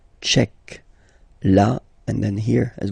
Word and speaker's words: tchèque: So remember, Q-U-E, k, tchèque.